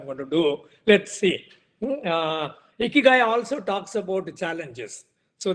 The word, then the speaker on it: Ikigai: And Ikigai, and they call it as Ikigai, E-E-K-E-E and G-U-Y, Ikigai.